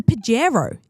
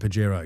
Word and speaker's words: Pajero: He mentioned the Pagarro is coming back. And this and Pajero.